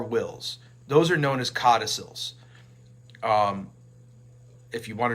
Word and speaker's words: codicil: amendments to our wills those are known as codicils um if you want to know how it's spelled it's c-o-d-i c-o-d-i-c-i-l codicil and what you're